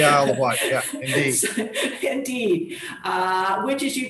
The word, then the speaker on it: Isle of Wight: the isle of wight is that is that the right way to say it james yes it is the isle of wight indeed uh which as